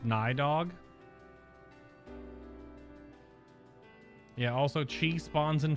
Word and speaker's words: Nidhogg: context of this game dragons are aliens spoiler nidhogg is a dragon also his name is pronounced nydog yeah also chi spawns in five minutes yup